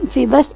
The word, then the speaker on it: Phoebus: यूज़ होता है, और इसकी प्रोनाउंसिएशन हम फीबस ही करेंगे, जैसे कि हम फिनिक्स को कहते हैं, फिनिक्स की प्रोनाउंसिएशन करते हैं।